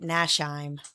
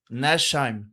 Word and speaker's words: Nachtsheim: But anyways, I pronounce it Nachtsheim. Nachtsheim.